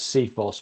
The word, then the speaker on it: CFIHOS: facilities information Handover specification and we like to pronounce it as seos but there is various other other ways of